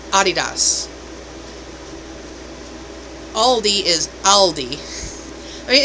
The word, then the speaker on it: Adidas: Adidas sneakers it's not Adidas it's Adidas Aldi is Aldi I mean it's just subtle changes in pronunciation but they're German companies German Brands so they're like um